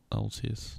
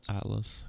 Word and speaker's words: Altis: Oh, it is Altus, not Atlas, because there's no, it's spelled like Altis, I believe, and that's why it's called Altus, not Atlas. Oh yeah, you know what I mean now.